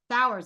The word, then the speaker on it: Sauers: hey this is winter with the shift Spotlight and today we're here with sour he is the did I pronounce that right s sours all right I did pretty good he's the